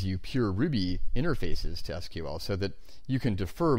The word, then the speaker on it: SQL: called structured query language or SQL sometimes pronounced sequel although I will avoid that pronunciation in this screencast series one of the nice